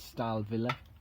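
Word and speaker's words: Stahlwille: This is Stahl Villa, a German make. The Germans pronounce W's as a V.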